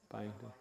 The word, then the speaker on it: Byington: How do you pronounce this name? Byington.